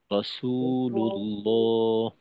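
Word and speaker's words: رسول الله: তো এইখানে রসুল্লাহ, রসুতে কিন্তু টান দিতে হবে। আপনার রসু, এই উচ্চারণ লম্বা হয়নি, তো এটাকে লম্বা করতে হবে। রসুল্লাহ।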